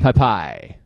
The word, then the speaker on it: Pepaj: It's like Pep Boys. Pep Boys, right? Pepaj. Pepaj.